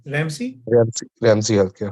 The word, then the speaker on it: Ramsay: हाउ डू you pronounce it? रेमसी, RAMSAY। रैम से? रेमसी कहते हैं, प्रोनाउंसिएशन शायद आपकी सबकी डिफरेंट हो, बट हम लोग उसे रेमसी कहते हैं।